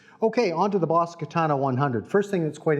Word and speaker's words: Katana: the front and said, Katana. So in Japanese it's pronounced katana, not katana.